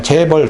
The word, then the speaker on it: 재벌: 그런데도 그냥 영어는 그대로 똑같아요. 발음 그냥 재벌 딱 그대로 써야 돼.